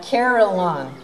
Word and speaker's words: carillon: in the american heartland three syllables rachel said is called a caroline look together we studied